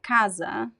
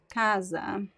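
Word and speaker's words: casa: a quick um overview most of the time in Portuguese the words are stressed in the middle the second to last right is very different from English uh so the second to last um syllable is usually stressed like Kaza Kaza uh Mesa Kaza means house Mesa means table CAD means um chair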